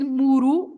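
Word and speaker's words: muro: that's Bates amuru okay not to be confused with muru because muru is aide uh um an outside wall around your garden for example you can have a wall around the garden and that is muru with one R and muru A Punch Double R so and of course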